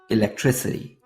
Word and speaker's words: electricity: The letter C is repeated twice in this word, and each time is pronounced differently. The first C sounds like K, and the second sounds like S, electricity.